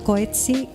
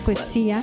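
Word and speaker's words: Coetzee: el tema y por Coeti, creo que se pronuncia Coetsía.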